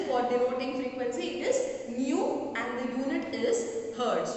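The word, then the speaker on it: ν: Frequency of a wave, which is denoted by the symbol nu. It is Nu. You pronounce it that way.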